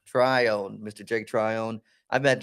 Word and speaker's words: Trione: do you say your last name to Trion try on try on Mr Jake Tryon I met Jake about a